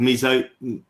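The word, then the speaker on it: mesoglea: Is it the mesoglia, is it pronounced? In jellyfish, it's called mesoglia.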